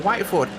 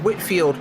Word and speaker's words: Whiteford: google you watch broadcast my name whiteford i get called whitfield whitefield every other variation you can possibly imagine so when i